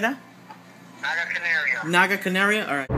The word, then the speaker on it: Naga Canario: the 13 Pepper powder Naga Canario that's you pronounce it like that Naga Canario Naga Canario all right about a nickels